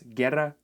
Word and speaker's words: guerra: letter G is that when the letter G is located in the groups G or Gi, the letter U becomes completely silent. So basically, when we have words guerra and guitarra, we don't say guerra nor guitarra.